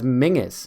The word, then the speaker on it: Menzies: i've never understood like the man's name is spelled menzies cheering alan turing and for some reason he refers to steve jobs alan turing he refers to this person whose name is spelt menzies as mingus and i'm like where